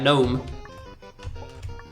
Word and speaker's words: gnome: GN's generally got a silent G for some reason, like gnome.